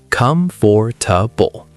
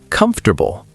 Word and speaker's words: comfortable: How many syllables do you think that has? Most people say 4, comfortable, but native speakers say 3, comfortable. The or just disappears.